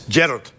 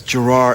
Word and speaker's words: Gerard: do that accent and we do the opposite and Scotland is Gerald just like that it's yeah it's the emphasis on the first part but here in America it's Girard and it goes hurry up and finish my name so that I can